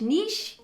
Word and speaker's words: niche: word is that niche niche rhymes with quiche niche however you want to